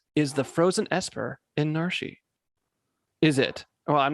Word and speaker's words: Narshe: It's pronounced Narshe, because guess what?